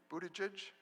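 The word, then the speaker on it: Buttigieg: and ask him I'm going to try to pronounce it Pete one time and then from then on it's mayor Pete bootage got it they are Pete bootages The Washington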